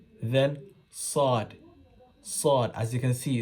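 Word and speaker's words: ص: your teeth this side sword sword if you're saying sword if your mouth is going round you're practicing wrongly it shouldn't be it's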